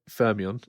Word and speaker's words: Fermion: Fermion.